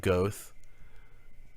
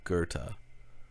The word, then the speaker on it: Goethe: It's so, I know, like Goth. I've even noticed Eric Dubé mispronounced that one. It is Johann Wolfgang Goethe. It's a German pronunciation.